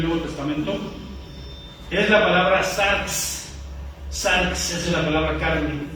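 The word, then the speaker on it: σάρξ: Es la palabra sarx.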